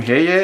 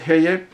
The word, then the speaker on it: Heye: I have heard many people say it Heye, but it's called Heye. I asked people from Germany how do they pronounce it, and since it's a German brand, it's probably Heye.